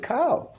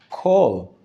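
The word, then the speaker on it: כל: a plus sign underneath you should never should pronounce it cow because it's a kamat katang it has a o sound call that's why in modern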